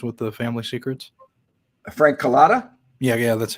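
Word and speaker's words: Calabrese: as well you know what was uh Frank calatra's you know you know do you know what his involvement was with the family secrets Frank colada yeah yeah that's how you say my bad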